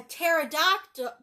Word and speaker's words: pterodactyl: Why can't you hear a pterodactyl go to the bathroom? I give up. Because the P is silent.